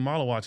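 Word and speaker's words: Maluach: That's how you pronounce his name? Malawak, right?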